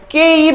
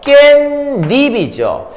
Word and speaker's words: 깻잎: 예문 발음하세요. 깨입 아니죠? 깻잎이죠.